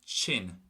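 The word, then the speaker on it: tinn: But the word for sick is going to be chin, chin. So almost like a CH pronunciation.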